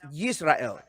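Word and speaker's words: ישראל: Is the nation of Israel, is the name in Hebrew pronounced Yisrael?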